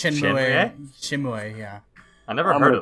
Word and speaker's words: Shenmue: Is that how it's properly pronounced? Shenmue, yeah. I never heard it like that. Shenmue.